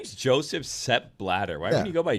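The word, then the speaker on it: Sepp Blatter: its own superhero SE bladder former FIFA president sep bladder is the joke you made even though a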